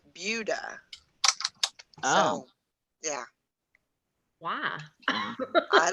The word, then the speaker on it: Buda: It's spelled Buddha, but you pronounce it Buda.